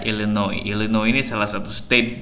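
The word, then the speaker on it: Illinois: Chicago ada Chicago Oke Ellen oi esnya nggak dibaca Ilen oil Enno ini salah satu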